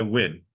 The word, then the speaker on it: Nguyen: Nguyen, and he goes by Nguyen, American pronunciation W-I-N, okay?